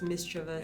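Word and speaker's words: mischievous: I was quite intrigued by the fact that it is mis-chuh-vous.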